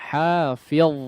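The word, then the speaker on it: حافظ: Kemudian huruf dha, perhatikan cara membacanya. Hafiz, ya, ditebalkan di sini huruf dha-nya.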